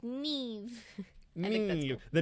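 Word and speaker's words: Niamh: uh fun fact in Irish Gaelic Nim is pronounced Neve I think that's you the knights you say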